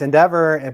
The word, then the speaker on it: NDVR: Oh yeah, so so it's Endeavor, but it's spelled NDVR.